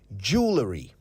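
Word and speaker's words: jewellery: Jewelry.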